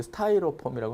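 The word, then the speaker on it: Styrofoam: 스티로폼이라고 하는 거, 발음이 스타이로폼이라고 하는데 스티로폼과 이쑤시개를 이용하여 탄소화물의 탄소 골격 모형을 만드는 규칙이다.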